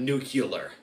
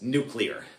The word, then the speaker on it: nuclear: So it's not nuclear, it's nuclear. There's only one U and it's not after the C. So certain famous people, maybe presidents, have always irked me in the pronunciation.